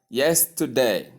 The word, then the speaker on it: yesterday: Now, if you look at the word yesterday, you will see that the stress occurs on the first syllable. Say clearly and avoid shortening as in the case of yes day.